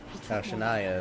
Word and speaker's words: Shania: following shania will you shania is her name okay that's how you pronounce it that's a weird way to pronounce that uh much less spell